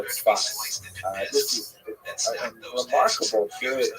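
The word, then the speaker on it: צפת: And that is the incredible explosion of spiritual and literary religious activity that occurred in the northern Israel city of Safed, pronounced in Hebrew Tzfat or Tzfat.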